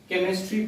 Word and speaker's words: chemistry: आता है, means केमिस्ट्री, देखिएगा केमिस्ट्री इसको नहीं पढ़ते हैं, केमिस्ट्री पढ़, CHEMISTRY, केमिस्ट्री, ठीक है, केमिस्ट्री, यानी कि एच साइलेंट है, केमिस्ट्री, ओके, केमिस्ट्री।